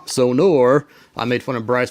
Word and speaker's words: Sonor: Not Sonar, Sonor.